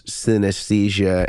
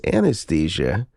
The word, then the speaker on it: synesthesia: well you know I I had heard some people pronounce synesthesia as anesthesia anesthesia anesthesia Anastasia yeah yes so it's